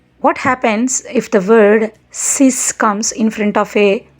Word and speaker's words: six: take one more example the number six is pronunciated as sis in French s e x is